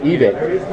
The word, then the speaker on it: Evike: Enunciate the name right for me. Evike or Evike? Evike. Okay, thank you.